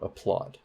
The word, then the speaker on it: applaud: stress is on m what about applaud applaud applaud applaud which sounds better a plot so that plot has primary stress okay so that is